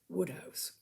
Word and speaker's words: Wodehouse: Tre a story a short story by PG Woodhouse now Woodhouse was the author of almost his name was pelum Granville Woodhouse w e w house pronounced Woodhouse he was the author of almost a hundred